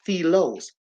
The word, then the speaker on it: philia: Then we have the love called philia, and it's pronounced philos.